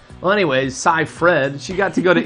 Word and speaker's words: Seyfried: You would think that's pronounced Seyfried, right? It's spelled that way, or Seyfried at least, but it's Cy-Fred. No. Weird. I know. She needs to change that name. Well, anyways, Cy-Fred, she got to go to Italy, make a